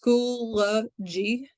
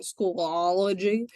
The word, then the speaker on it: Schoology: the beginning all right so schoology is pronounced schoology it's not schoolology so say it to yourself when you're sitting at home or right here at your desk it is Schoology um and it makes